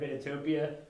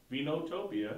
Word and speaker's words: Vinotopia: vinutopia my name is here at vinitopia uh vinotopia it's a great title i just have to